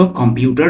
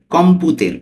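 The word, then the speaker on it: computer: উজারে উন কম্পুতের অর্থ কম্পিউটার ব্যবহার করো এখানে ইতালিয়ানের যে বাংলা উচ্চারণটা আছে কম্পুতের এখানে কম্পিউটের হয়ে গেছে এখানে হবে কম্পুতের ওকে উজারে উন কম্পুতের অর্থ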